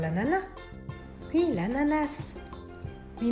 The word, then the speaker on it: ananas: Intendi l' ananas? Sì, ananas. Sì, ma in francese corretto diciamo "anana", non pronunciamo la S. Beh, io ho sempre detto "ananas" con la S. Sì, beh, entrambe le forme sono accettate.